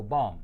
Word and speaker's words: bomb: went off right bomb right there's no but at the end I don't make a B sound at the end of this word yeah so bomb luckily nobody was near